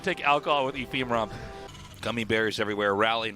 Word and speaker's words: Ephemeron: Ephemeron. Ephemeron. Ephemeron. Ephemeron. Ephemeron? Ephemeron. The producer says ephemeron. It's not ephemeron production. Ephemeron. Ephemeron? Yeah. Game May cause bloating. Do not take alcohol with ephemeron.